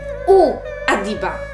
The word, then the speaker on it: Muad'Dib: My? U Adiba. Tak to się wymawia.